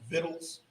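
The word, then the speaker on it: victuals: is food it's like it's the old folks just pronounced vittles he said he means food that's the way it used to be pronounced you know it says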